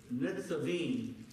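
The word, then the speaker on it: Nitzavim: But let's go to Deuteronomy 29, because we're going to talk about today something that is called Netzavim. Netzavim.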